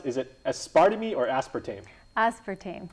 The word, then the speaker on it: aspartame: as we do is it how do you pronounce is it aspartam or aspartame aspartame aspartame okay yeah one of the uh uh artificial